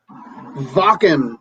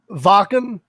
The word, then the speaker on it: Wacken: Wacken, I think. Wacken? That's what I thought, but people look at me funny when I say it that way.